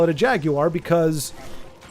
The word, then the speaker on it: Jaguar: But, I mean, like Jagu Jaguar, like the Atari Jaguar, like Jaguar is how I've always heard it pronounced. However, our friends in the UK call it a Jaguar, which I mean it